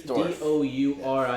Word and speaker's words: Dourif: I don't know how to pronounce it. It's it's Dorff. Dourif.